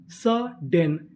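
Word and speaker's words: sudden: डी हमारा 2 बार लिखा है लेकिन हम लोग इसे पढ़ेंगे एक बार।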